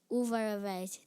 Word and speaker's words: Uvarovite: Am I pronouncing the word correctly? Uvarovite. Yes. Uvarovite.